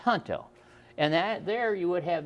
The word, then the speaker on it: Junto: It's Junto, but it's pronounced Junto.